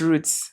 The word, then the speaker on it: Roots: It's it's roots. Roots. It's roots because well I I say roots anyway. But it's roots because it's talking about Zambia's roots like the roots of a tree and the roots that we have taken since.